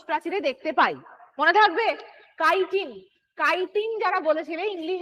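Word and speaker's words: chitin: দেখতে পাই মনে থাকবে কাইটিন কাইটিন যারা বলেছিলে ইংলিশ বানানটা এইটা হয় সি এইচ আই টি আই এন এটাকে কেউ চিটিন বলবে না এটাকে কাইটিন বলবে চিটিন উচ্চারণ হয় না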